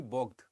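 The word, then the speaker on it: Bogd: 10th incarnation of the bog okay B OG d which is essentially to be understood and pronounced as b o g g e d okay so what is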